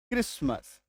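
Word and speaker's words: Christmas: क्रिसमस सी एच के बाद आर कच आर ओ एम ओ एस ओ एम ई सी एच के बाद आर क्रोमोजोम।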